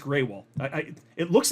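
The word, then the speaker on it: Grewal: ETF applications coinbase's Chief legal officer clo Paul gruul oh no actually it's pronounced greywall I I it looks like GRL I know that but I've heard him say it's it's Paul Greywell um anyway so Paul Greywell has become the latest crypto stakeholder to comment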